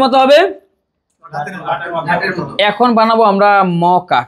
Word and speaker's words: মকা: এখন বানাবো আমরা মকা। কি বানাবো? মকা মানে কি? মচারাই বাংলায় মকা, চাইনিজ বা জাপানিজ এটাকে উচ্চারণ করতে পারে না, যেন ওরা মোচা বলে।